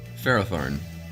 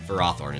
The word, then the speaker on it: Ferrothorn: Ferrothorn. Ferrothorn is the official pronunciation of that.